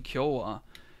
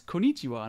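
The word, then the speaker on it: こんにちは: and I was like, why does it keep saying kyowa? And the actual teacher, I won't say her name, but the actual teacher was like, that's konnichiwa.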